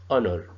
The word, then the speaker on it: honor: Is that the H sound is not pronounced. It's a silent H.